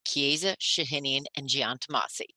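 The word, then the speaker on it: Chiesa Shahinian & Giantomasi: you all this afternoon the firm's name is pronounced kieza shahinian and giantamasi csg is much easier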